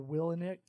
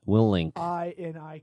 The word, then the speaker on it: Willink: And or Willnick, Jocko Willnick, Willick. good. I don't think there's an N in there. WILLINIK. Willink. No, it's not Willnick.